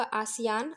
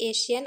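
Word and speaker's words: ASEAN: south ए से होगा आसियान आसियान या फिर एशियन आप कुछ भी पढ़ सकते हैं प्रोनाउंस कर सकते हैं फिर ए से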